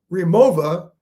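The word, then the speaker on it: Rimowa: Remova, that's spelled R I M O W A and Briggs and Riley.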